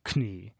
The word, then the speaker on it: Knie: Like the word knee, for example, in German, it's knie.